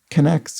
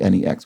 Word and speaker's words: K'Nex: is spelled k apostrophe n-e-x which would make connects easier to infer as a pronunciation as opposed to my first thought which was nex knex anyway k'nex is